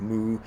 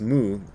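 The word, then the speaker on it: 無: In Japanese, it's mu, but in Chinese, the same character is pronounced wu.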